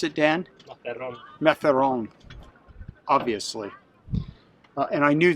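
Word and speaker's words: Mazarrón: How do you pronounce it, Dan? Mazzaron.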